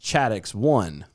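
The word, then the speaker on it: ChAdOx1: actually it's pronounced chad x1 it's chode that's yeah that's not how it's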